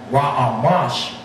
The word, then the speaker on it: Ramses: Now getting back to this Napoleon guy, when he outlined the pharaoh to be Ramses, which in ancient Hebrew is pronounced Ra-Amash, we became caught up in the erroneous impression that it was Ramses the second of 1224 to 1290 BCE.